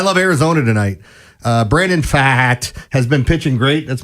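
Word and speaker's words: Pfaadt: Uh, Brandon Fat has been pitching great. That's my favorite name in all of baseball. P F A A D T stupid fat. The P is silent.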